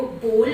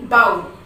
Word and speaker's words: bowl: तो देखिए इन द बोल ये प्लेस दिखा रहा है और यहाँ पर देखिए ये बोल, हम BOWL को बोल प्रोनाउंस करते हैं, ना कि बाउल.